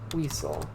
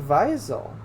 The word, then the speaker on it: Wiesel: lock it up elie wiesel except they're saying Visal that's how I thought you pronounce it too but I normally German